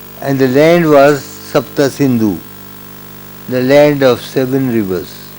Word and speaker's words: Sindhu: Empire in 500 BC the Persians pronounce the Sanskrit word Sindhu as Hindu and thus the river